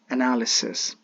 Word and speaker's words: analysis: Sadly, that is the case, but the truth is we have to use the accurate one, and the accurate one is analysis. Analysis.